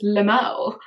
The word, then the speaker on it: LMAO: I do have my favourite comment, and this is from the fabulous Flea Market Gold, who said, LMAO, which I always pronounce as Lamau.